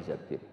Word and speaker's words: Tsabit: Jabir di dilihat disini bukan bacanya bukan Zubair tapi zabib Abdurrahman Bin Tsabit Tapi orang-orang tuh ya